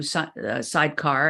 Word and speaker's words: Sydecar: I I read about what you guys do sidecar and let's spell that for everybody because some people aren't watching